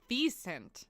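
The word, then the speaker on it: wisent: vent vent it's a vent so it's you don't pronounce the W as a w proun it is like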